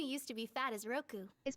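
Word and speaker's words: ろく: The little one's name is Hachi, and the one who used to be fat is Roku. It's not Roku, okay? It's Roku, as you heard in the pronunciation.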